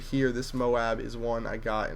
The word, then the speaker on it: MOAB: bringing you guys a MOAB gameplay on the map fallen and yes I finally got the pronunciation correct I said Moab not M like I was calling it before and uh that's all